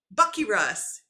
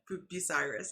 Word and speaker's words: Bucyrus: for whoever gives me Bucky Russ. Bucyrus. I know how to say it. I just pissed off Sam by saying Bucky Russ.